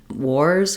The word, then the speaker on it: wars: So I've rewritten that for you here with WOR, and then in the word wars, our letter S says the Z sound.